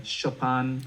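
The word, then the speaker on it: Chopin: i i really listen to a lot of chopan which i feel so silly pronouncing it that way but that's how that's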